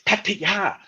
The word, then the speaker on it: Pattaya: Oh, you're not saying it right. It's like all the time. Pattaya, it's Pattaya. Yeah. And if you listen closely to Thai people, it's Pattaya, There you right?